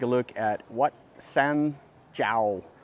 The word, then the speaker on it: Chao: going to take a look at what San jao it's spelled ciao but it's pronounced Zhao we're going to take a look at what